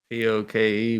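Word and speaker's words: poké: P-O-K-E, but they say Poke.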